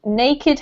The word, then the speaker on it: naked: Naked has 2 separate syllables.